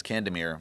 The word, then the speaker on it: Candemir: It's funny because my last name, well, that's a long story, but my last name is Candemir, or it's pronounced that way.